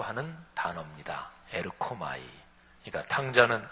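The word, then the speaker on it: ἔρχομαι: 헬라어 발음으로 에르코마이라고 하는 단어입니다. 에르코마이.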